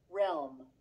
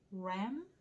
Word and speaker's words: realm: Realm. Ram? 이런 단어 처음 봤어. 다른 영역으로 이동을 시킬 수 있어. Ram? 발음이 보이래? Realm. Ram. L 발음과 M 발음을 어떻게 연결시켜?